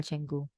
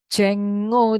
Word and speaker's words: Django: Ini termasuk cepat ya kalau install Django. Django, tulisannya Django ya, tapi bacanya umum orang ngomong Django.